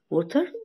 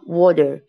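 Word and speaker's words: water: طبعا ما بنقولوش سام ووتر، ووتر غلط ما تلطقش ووتر خالص. سام وور وور يعني يا اما نلطقها وور يا اما نلطقها وودر، دي صح ودي صح.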